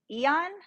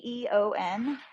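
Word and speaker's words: Aeon: too um it's the I think it's pronounced Eon so it's a e o n Eon uh the Mira nine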